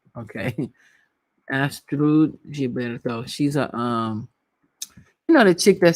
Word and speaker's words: Astrud Gilberto: It sounds all fancy, but it's really Astrid Gilberto. Okay. Astrud Gilberto.